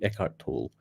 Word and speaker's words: Eckhart Tolle: a philosopher called eckhart tolle i hope i pronounce it right eckhart eckhart toll e-c-k-h-r-t t-o-l-l-e eckhart tolle uh it goes like this um wherever you